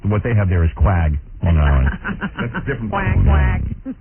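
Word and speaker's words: Quogue: You spell it Q-U-A-G? That's from Miss Spelling. Yeah, these guys screw me up every day. It's Q-U-O-G-U-E, isn't it? Yeah, that would be Quag. Right. But what they have there is Quag, Long Island.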